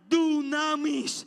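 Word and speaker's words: δύναμις: En la gracia, esa expresión es Elohim, pasa un griego que se pronuncia dunamis.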